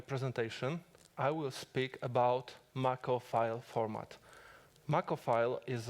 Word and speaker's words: Mach-O: Mach-O is pronounced similarly to the main power source from Final Fantasy VII.